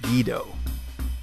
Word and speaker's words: Guido: Actually, it's pronounced Guido.